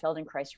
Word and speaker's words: Feldenkrais: And we like to say that Feldenkrais rhymes with paradise.